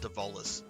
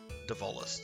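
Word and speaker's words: Dezolis: It's pronounced Devolis. Devolis, sorry.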